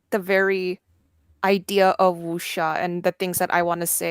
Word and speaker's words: wuxia: That's Oh how yeah, you pronounce it, right? yeah, Okay. wuxia.